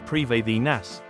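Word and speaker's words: Prifddinas: You need access to the ancient elven city of Pritheus, pronounced preinas, which is unlocked through the Grandmaster quest song of the elves.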